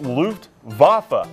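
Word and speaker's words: Luftwaffe: I don't know how to pronounce this. L Ven. Oh, it's Luft. Vafa.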